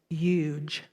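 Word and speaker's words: yuj: u j it's pronounced huge like huge but remove the H if you would huge what you may or may not know is that in its translation the root of the word huge which means Union to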